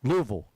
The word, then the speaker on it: Louisville: It's kind of like, how do you say Louisville or Louisville? I say Louisville. I say 3 syllables. People from there, they say 2 syllables. Louisville.